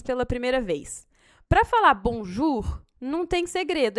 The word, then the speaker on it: bonjour: O jour tem aqui essa junção da letra O com a letra U do francês. Então, toda vez que você tiver essa junção, O com U, você vai pronunciar como U de uva. Então, essas duas letras formam um som só, que é o som de U.